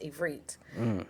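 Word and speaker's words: עברית: All right, so Hebrew, which in Hebrew is actually pronounced Ivrit, and it means to cross over, right?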